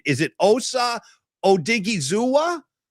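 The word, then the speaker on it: Odighizuwa: And I want to ask you, first of all, let's do a little classroom session on pronunciation. Is it Osa Odigi Zua?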